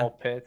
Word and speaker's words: Ball x Pit: It's called I'm assuming ball X pit or ball pit maybe. I think the X is silent. It's like under. You're not supposed to say the X yet. Ball pit.